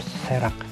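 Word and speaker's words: Cherax: Kita lihat, oh ternyata masih sama guys, mereka masuk dalam genus Cerax, bagaimana bacanya, serak gitu ya.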